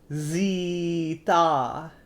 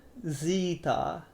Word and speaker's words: zeta: So, um, the Greeks call it, or the correct way to say it, zeta, zeta, zeta.